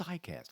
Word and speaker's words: ICAST: country people are what's icast icast it sounds like it's it's spelled out like iPhone more or less so there's a i and then and then cast this is where thousands